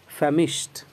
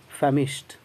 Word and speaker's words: famished: जब आप FAMISHED को प्रोनाउंस करेंगे तो इसका प्रोनंसिएशन होगा फैमिश्ड, यानी कि ट पर लास्ट करेगा, ड पर नहीं, डी को टी जैसा पढ़ेंगे, टी का साउंड ट होता है, ऐसा ही पढ़ेंगे, फैमिश्ड, फैमिश्ड।